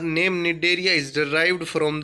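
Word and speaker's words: Cnidaria: अब phylum Coelenterata पढ़ रहे थे, हम पढ़ेंगे सिलेंट्रेटा मतलब इसका दूसरा नाम है निडेरिया। निडेरिया सी साइलेंट हो जाएगा बोलेंगे तब।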